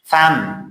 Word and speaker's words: thumb: Thumb انگشت شست B is silent.